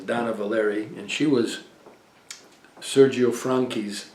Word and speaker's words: Dana Valery: A lot of people call her Dana Valerie, but it was Donna Valeri, and she was Sergio Franchi's sister.